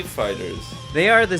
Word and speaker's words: FighterZ: It is Dragon Ball Fighter Z. I messed up. You don't pronounce the Z. It's just Fighters, but it's a Z instead of an S.